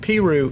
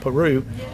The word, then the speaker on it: Peru: and by the way you pronounce it Peru Indiana not Peru some some people know